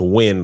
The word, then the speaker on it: Nguyen: One of my favorite football players as a kid name was Dat Nguyen, and his Nguyen in Vietnamese is Nguyen. But it's pronounced win, like win a football game.